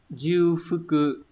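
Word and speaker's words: 重複: Từ này sẽ đọc là Jufuku. Đấy. Hoặc là chô phức cự cũng được các bạn nhé. Chô phức cự đọc hai cách.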